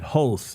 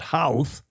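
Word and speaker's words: Howth: They said hoath, not house as I did. Hoath. Ho. Did I Chris Fury? Did I get that right? Not Heath, but Hoth.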